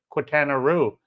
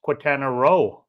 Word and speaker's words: Quintana Roo: I've always heard it, people pronounce it Quintana Roo, but apparently it's Quintana Roo. Who knew? All these years I've been saying it wrong and no one ever said anything. And I've never heard anybody say row.